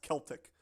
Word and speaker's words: Celtic: Um I think they said it's pronounced Celtic uh is the correct term. Celtic. Wonderful. I I apologize again for my butchering of every single word on this stream. Um the old Celtic tribes uh placed him there.